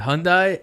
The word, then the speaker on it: Hyundai: Island Hyundai Hyundai yes rhymes with Sunday Sunday it's not Hyundai it's not Hyundai it's